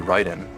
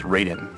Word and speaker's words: Raiden: It's actually Ryden. Uh-huh. Cuz you know, in Metal Gear from the very beginning there's voice acting, so they know it's Ryden. But most people when they see Ryden written, they think it's Raiden.